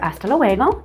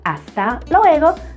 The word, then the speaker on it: hasta luego: I prefer hasta luego, hasta luego, hasta luego. Again, that H is silent until later, but in other words, see you later, hasta luego.